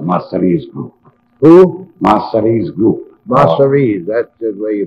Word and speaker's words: Masseria: Masseria's, that's the way you pronounce it.